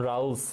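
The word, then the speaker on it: Rawls: উপাদান জন রোলস হ্যাঁ জন রোলস বা জন রাউলস বিভিন্ন নামে ডাকা হয় ওনাকে স্পেলিং ইংলিশ বানানটা হচ্ছে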